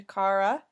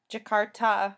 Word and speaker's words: Jakarta: 4th she finished up into jakara I'm sorry if I said that wrong Indonesia Jakarta sorry um in Indonesia